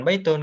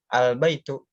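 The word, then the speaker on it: البيت: Enggak, bukan baitun, kan pakai alif lam, berarti al baitu.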